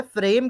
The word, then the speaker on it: frame: तो गलत है, फ्रेम की स्पेलिंग होती है FRAME। अच्छा ठीक है। ठीक है, तो उसमें करेक्ट कर दीजिए। फोटो फ्रेम में ई एंड में होता है, साइलेंट होता है।